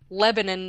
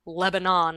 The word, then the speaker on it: Lebanon: But yeah, I don't know why that's it's and it's pronounced Lebanon, not Lebanon like the country.